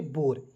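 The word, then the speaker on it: bore: बी ओ आर ई को पढ़ेंगे बोर।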